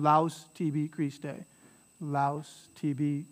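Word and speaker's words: laus: kriste all right and the laos here uh here's your au diphthong so it's just one sound laos tb crease day laos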